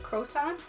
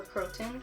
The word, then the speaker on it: croton: This lovely plant here is a croton or croton, however you prefer to pronounce it.